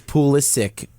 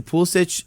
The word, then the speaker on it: Pulisic: you gonna pronounce it it's pulisic to all the Americans yeah but on all the Chelsea YouTube videos yeah exactly pool Stitch is how that's how you say it so but for some